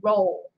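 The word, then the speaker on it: Rolle: of 23 years jeffrey roll senior now i'm sorry if i said it's last name wrong it's pronounced well it's spelled r o l l e like row row jelly roll so yeah yeah jelly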